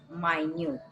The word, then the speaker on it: minute: But here I'm pronouncing it as minute. When the meaning is immeasurably small, right?